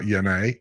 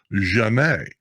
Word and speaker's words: Janae: out the other day her name was not yanay it's actually in her country it's pronounced jenae you left too early tom